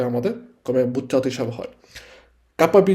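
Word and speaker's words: CAP: ওকে আমরা আজকে যে চ্যাপ্টারটা পড়বো এক্ষেত্রে আরেকটা জিনিস হচ্ছে গুরুত্বপূর্ণ আপনাদেরকে হচ্ছে দেখাই যে নরমভাবে কাপ্পাবি পাতেটা কি আসলে কাপ্পাবি এটা হচ্ছে একটা কোর্স কমে যেটাকে সংক্ষেপে বলা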